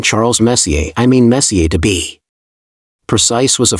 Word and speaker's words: Messier: well young lady the m stands for Messier pronounce Messier not Messier is in is your room Messier then M Charles Messier I mean Messier to be precise was a French astronomer in